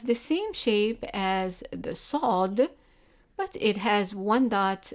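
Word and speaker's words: صاد: of this letter is sod sod repeat after me sword sword and the sound of it in msa is s but pronounced in the back of the mouth so it's so so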